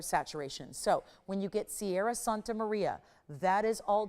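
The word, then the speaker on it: Ceará: It's pronounced Sierra, spelled differently than the singer.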